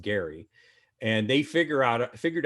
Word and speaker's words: Gerry: his name was gary we pronounce it gerrymandering these days but his name was pronounced gary and they figure out